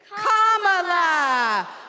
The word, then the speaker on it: Kamala: First you say comma like a comma in a sentence. Then you say la like la la la la la. Put it together and it's 1, 2, 3, Kamala.